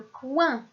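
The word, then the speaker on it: coing: comme le mot le coin. Et ici aussi, nous avons la lettre G comme lettre muette à la fin du mot.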